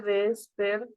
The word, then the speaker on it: despertás: Te despertás. Recuerden en esos verbos del vos que al final, pa, lleva la pronunciación más fuerte.